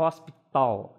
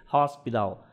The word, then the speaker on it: hospital: Repare que eu não vou falar e hospital, eu não falo som de T, porque esse som do T ele é mais próximo do D. E ali ele está marcado como que é essa pronúncia. Esse T com acento circunflexo na sua base indica que ele vai ter um som diferenciado mais para perto do D.